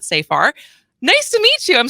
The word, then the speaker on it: Safar: Nicole Nicole Safar who I've been saying it wrong it's so far not so far nice to meet you